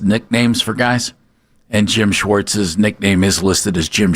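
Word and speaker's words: Schwartz: It's Schwarz.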